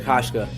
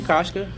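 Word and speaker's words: Hauschka: Kashka? Hashka.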